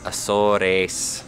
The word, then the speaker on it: Azores: Free flights from this airline called Azori or something. Azores? Azores, is that what it is? How do you say it in Spanish? Azores? That's it, Azores.